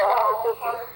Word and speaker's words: Havasupai: Is it Lake Havasu or Havasupai? No, Havasupai. Havasupai, yeah.